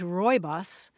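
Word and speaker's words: Rooibos: The one that I see most often is Royos.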